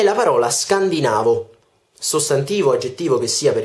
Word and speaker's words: scandinavo: della scandinavia scandinavo si pronuncia con con laccetto sulla penultima sillaba e non sulla terzultima come abbiamo sempre fatto cioè noi tutti diciamo scandinavo in realtà questa è una tendenza che abbiamo in italiano accertare sillabe precedenti alla penultima in modo da farle sembrare un po più altolocate in realtà si dice scandinavo non scandinavo la penultima parola di